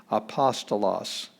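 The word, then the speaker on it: ἀπόστολος: here's the beginning letter it's a vowel it's got smooth breathing there's no h sound apostolos and apostolos is where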